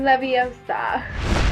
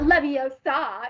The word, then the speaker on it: Leviosa: feather and that's when gaudium Leviosa not Leviosa it's Leviosa and it sets her character